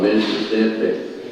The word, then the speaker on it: Mississippi: Mississippi, I love the way people talk from Mississippi. Hi, how are you? It's not 3 syllables, it's 5 syllables.